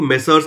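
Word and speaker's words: Messrs: है मेसर्स beauty products यह m ऑ एस जो है इसको मेसर्स प्रोनाउंस करते हैं आप मिस भी बोल दो चलेगा एमएस बोल दो तो भी चलेगा क्या बोलते हो उससे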